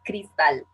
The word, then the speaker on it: Cristal: I pronounce my name as Cristal.